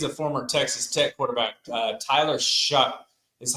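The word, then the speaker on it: Tyler Shough: is because he's a former Texas Tech quarterback Tyler shu is how you pronounce that name I I I don't like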